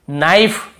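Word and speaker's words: knife: के को नहीं पढ़ेंगे नाइफ यहां पर भी के को नहीं पढ़ेंगे नो इसे नाउ नहीं पढ़ेंगे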